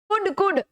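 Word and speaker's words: could: okay, कौन पढ़ेगा, वी कुड, कुड L silent रहेगा उसमें, कुड पढ़ो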